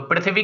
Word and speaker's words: पृथ्वी: लगी है आपके पास, तो इसका उच्चारण री होता न कि रा, जैसा आप कहते हो पृथ्वी, तो री की ध्वनि आ रही है यहाँ पे।